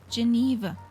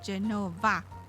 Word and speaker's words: Genova: did the flight plan I read Geneva a closer look no Genova yeah I built it because I don't oh Genova is the Italian name for quinoa you you pronounce it Genova in Italian but maybe it was